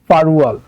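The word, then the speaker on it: 팔월: আছে হচ্ছে পাল ওয়াল তাহলে পালের নিচে আমরা রিউল দেখতে পাচ্ছি প এর নিচে রিউল আছে রিউল হচ্ছে বাচ্চিম তাহলে রিউলটা চলে যাবে ইয়ং এর জায়গায় তাহলে উচ্চারণ হবে পারুয়াল মানে হচ্ছে আগস্ট মাস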